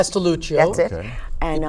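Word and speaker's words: Castellucio: I don't know how to pronounce his last name. Castelluccio.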